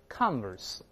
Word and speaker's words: converse: 但是形容词要这么读，converse，或者做名词，相反的事物也是重音在前面。